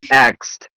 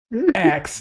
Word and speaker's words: AGTX: He says axed. Axed. Yeah, no. Axed the Dragons.